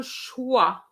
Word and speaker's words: choix: Okay, elle n'a pas le choix. I know there's an X there, but it's silent.